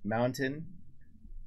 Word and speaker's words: mountain: And we can't pronounce our T's either. Yep. Mountain. Whoa, that was nice. That was really good. Yeah. You've been practicing. Mountain. Yeah. Fountain. Mm-hmm. Yeah. There is no T there.